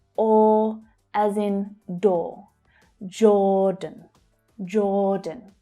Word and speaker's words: Jordan: Jordan, Jordan. Again, the j consonant sound, followed by the or vowel sound. Or as in door. Jordan. Jordan. The second syllable is unstressed.